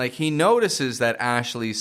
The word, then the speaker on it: Ashley: It's just the li. It's the fading ending E sound on the ending.